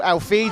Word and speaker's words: Elfidh: gym with Elfidh, who I've now been told is called Elfidh, so please ignore my pronunciation of his name in all the previous interviews.